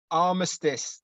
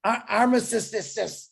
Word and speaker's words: armistice: Armistice. Armistice.